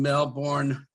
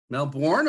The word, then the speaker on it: Melbourne: Stuart Kells lives in Melbourne. Melbourne or Melbourne? Melburnians pronounce it Melbourne. Melbourne. Okay. Yeah. Okay for North Americans to say Melbourne. We're used to it.